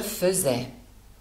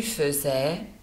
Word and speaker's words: faisais: pour le verbe suivant le verbe faire dans la conjugaison à y va se prononcer comme un e je faisais tu faisais il elle faisait nous